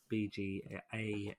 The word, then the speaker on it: BGA: in real life no I I'm more than happy to BG a thank you for saying it correctly this BGA silence um